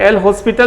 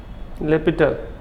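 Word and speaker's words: L'Hôpital: ऐसे एल हॉस्पिटल भी बहुत लोग पढ़ता है, लेकिन इसका प्रोनाउंसिएशन ऐसे होता है, लेपिटल रूल, ठीक है।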